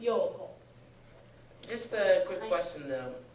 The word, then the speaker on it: 陽子: When they write it in Romaji, they usually don't put that extra O or O or U in there. But that's how it should be pronounced, because otherwise it sounds like her Yoko.